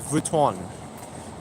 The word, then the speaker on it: Vuitton: I360 saying it's pronounced Vuitton. V-W-E-E-ton. Louis Vuitton.